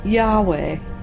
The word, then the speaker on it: Yahweh: think about it because it's just an approximation that's how it's written in the Hebrew and that's how we say it that's how it's pronounced